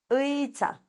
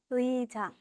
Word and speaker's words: 의자: La silla podemos leer de esta forma, o sea, se lee, mejor dicho, 의자, 의자, 의자. 의자, 네, 맞아요.